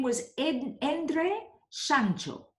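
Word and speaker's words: Szántó: name was ed Endre Santo a name which is pronounced more or less like Santo in Italian and this reinforced in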